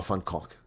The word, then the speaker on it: van Kolk: Notice yesterday's stream that you pronounced Francois van Kolk with an accent. Jan, I've interviewed Francois van Kolk. There's no accent. And I just said van Kolk.